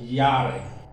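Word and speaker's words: Jahre: comes to dodge so when you see j in german text is pronounced y so yare now listen to me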